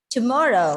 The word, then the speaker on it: tomorrow: Tomorrow. Second syllable. Exactly. Tomorrow. And computer. Okay. So the stress is on the second syllable.